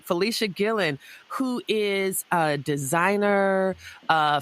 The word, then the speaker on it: Fleshia Gillon: Is that right, Fleshia Gillon? Am I pronouncing it right? Yes, ma'am. All right. Fleshia Gillon, who is a designer, a former fashion student and graduate of Mississippi State University.